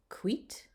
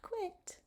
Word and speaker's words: quid: Qui, quem, aquam, quid, que, there's the ligature, quod, quit, not quit, but quit because the I has that long E sound.